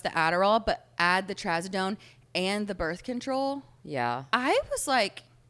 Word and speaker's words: trazodone: So then they prescribed me trazodone. Oh, is that how you pronounce it?